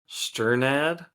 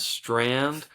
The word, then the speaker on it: Strnad: And sorry if I'm pronouncing the last name wrong, but I always read it as Strand, but it's actually spelled Strnad. So Sternad. Strnad.